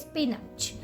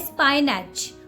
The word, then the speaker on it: spinach: 12th vegetable is it's spinach spinach don't call it a spine Edge okay it's a spinach spinach all right so the